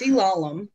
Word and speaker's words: Elalem: out loud yeah um so it's ilalam it's like phonetically spelled um i guess i don't know it's egyptian so